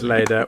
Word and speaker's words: Leda: I think it's Leda? Is that how you say it? Yeah, he's nailed it. Yes, it is. It's Leda.